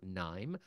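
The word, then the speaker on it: KNIME: the founder and CEO of a company called Nim that's spelled KN n m and they are an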